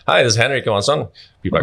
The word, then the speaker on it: Henrik Johansson: Henrik Johansson. That's me. That's well pronounced.